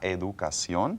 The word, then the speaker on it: educación: En sion, como la educación. Educación. In English, these words usually have a sh sound at the end. Education. Education. But in Spanish, they're pronounced differently.